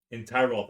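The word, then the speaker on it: Tyrault: will also that was a big word huh entiroth is kind of how it's spelled t-y-r-a-u-l-t um you will also take um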